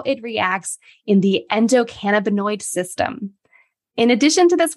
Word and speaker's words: endocannabinoid: a few of the words did I say endocannabinoid correctly you did I you know you can